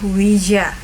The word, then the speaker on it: Ouija: dari mereka yang menyampaikan bahwa Oja datang dari bahasa Perancis yaitu UI yang berarti ya dan bahasa Jerman ja yang juga berarti ia ya geng cara baca yang benar adalah Wija dapatin ini geng terjual